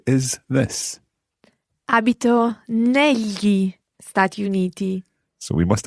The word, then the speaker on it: negli: Abito negli Stati Uniti. It's spelled Negli. So that GL is the same GL that you hear in the word tagliatelle.